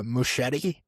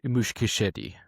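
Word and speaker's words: Muschietti: So, it's been said that Andy uh Mushetti, is that how you pronounce that? The guy who directed it um develop. It's actually mush mushkashed.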